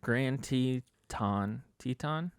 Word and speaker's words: Grand Teton: __ ] yeah so they found her in grand teton that's how you say it wyoming yep national